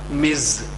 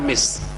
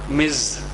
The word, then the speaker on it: Ms: short form for Mis it is pronounced Miz it is not miss it is Miz and for whom should